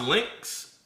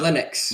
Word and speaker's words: Linux: So, is it is it is it pronounced Lynx? Uh Linux. Linux. So, Linux.